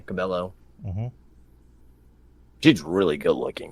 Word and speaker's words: Cabello: Selena Gomez, Camilla Caballero, or Cabello, how you say her name? Cabello.